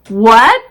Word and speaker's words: what: hours times vehicle exhausted what nowadays we pronounce what without the h sound so what when where